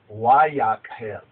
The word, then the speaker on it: Vayakhel: Now, the more correct pronunciation is Vayakhel, but the Ashkenazis, they pronounce the wow as a vav.